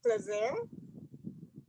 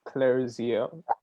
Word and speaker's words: Clarizia: All right, go ahead, Mr. Clazer. Pronounce that properly for me. Oh, good night. My last name is Clarizia.